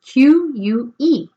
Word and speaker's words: que: The only exception with the U in Spanish is that it is silent between Q and E and G and E and G and I y la G y la I.